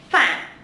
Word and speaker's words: Phạm: And Phạm, Phạm, Phạm.